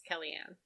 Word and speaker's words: Kaliane: It's Kaliane.